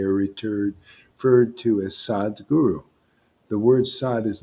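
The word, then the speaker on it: Sadhguru: inner experience they are returned referred to as sad guru the word sod is not a title it's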